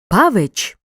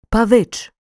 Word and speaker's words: павич: чи приголосних звуків наприклад звуковий запис слова Павич відображає неправильну вимову тут натрапляємо на такі орфоепічні помилки неправильне наголошування слова адже наголос має впасти на другий склад інша помилка полягає в неправильній м'якій вимовій шиплячого приголосного ч який в українській мові завжди твердий вимов правильно Павич До речі усі особливості